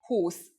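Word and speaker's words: húsz: For example, 20 is who with a long u but 21 is with the u pronounced short.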